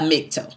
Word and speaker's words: MGTOW: You can't just go around and say that you are a MGTOW, right? And that's the way that the acronym is pronounced.